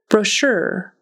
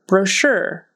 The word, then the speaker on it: brochure: t sound developed developed brochure brochure that CH is going to be pronounced like an sh so it's sh brochure brochure that Ur is